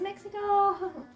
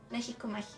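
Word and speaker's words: México: so be careful okay this is mexico mexico we would say mexico okay so be careful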